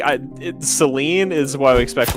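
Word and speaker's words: Céline: saline Seline Seline yeah saline is a medical thing there there's a character named saline and engage you're kidding yeah it's spelled the same except as an accent over the e oh my gosh so like in my brain I keep reading as saline because I'm so used to that being the name of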